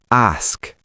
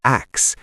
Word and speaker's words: ask: Many people say axe, like let me ask you a question. Axe? Like an axe you chop wood with. Not quite the same sound, but similar. They drop the s and say axe instead of ask.